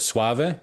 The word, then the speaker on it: Soave: I first listened to the record now again pronunciation should I call it suave is that the way to say it.